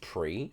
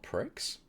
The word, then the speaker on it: Prix: Wait, it's pronounced pre, not pricks.